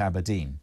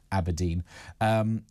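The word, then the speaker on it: abrdn: So it's A-B-R-D-N, pronounced apparently Aberdeen.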